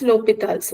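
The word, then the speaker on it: L'Hôpital's: Whatever you pronounce, I pronounce it as L'Hopital's rule.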